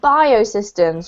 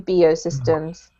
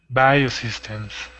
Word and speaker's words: biosystems: to comment on and it's pronounced biosystems rather than bo systems biosystems yeah okay well done